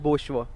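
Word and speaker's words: bourgeois: इज़ the correct one, इसकी pronunciation है बोशवा।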